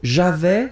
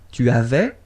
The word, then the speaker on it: avais: So, j'avais, final S not pronounced. Tu avais.